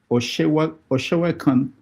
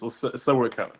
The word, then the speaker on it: Sewekan: Oshewakan, did I pronounce it well? Yeah, it's an good name. It's Sewekan. Oh. I'm Okay. from Badagry. Say that again. Sewekan. Yeah. Sewekan. Okay.